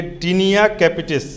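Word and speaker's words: Taenia capitis: इसका टीनिया का स्पेलिंग होता है TAENIA, टीनिया। सोच के भी कोई नहीं बना सकता है, TAENIA, TAET, और उसके बाद है NEA, कैपिटिस, CAPITIS, कैपिटिस। दमा का लिखिए, दाद का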